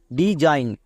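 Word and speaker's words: design: N Zain D Zain এবার এখানে এস এর জন্য বর্গীয় কেন হলো দন্তসও কেন হয়নি আমরা সবাই জানি এস এর দুপাশে যদি দুটো ভাওয়েল থাকে তখন এস এর জন্য বর্গীয় জয় এখানে দুটো ভাওয়েল আছে এবং মাঝে এস আছে তাই এস এর জন্য বর্গীয় জ হচ্ছে যেমন ডি ই ডি এস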